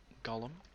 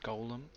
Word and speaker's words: Golem: My friend calls him Gollum. It's Golem. I just don't mind how you say it.